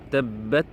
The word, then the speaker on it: tabbat: Donc ici c'est tabbat. Bien prononcé ta avec sukun.